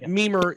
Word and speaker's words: Mimir: the uh the memer token and and by mimer we'll have the information in the description and